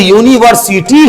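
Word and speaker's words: university: था कि जवा प पहला साउंड कौन आया तो य आया अब जब य आया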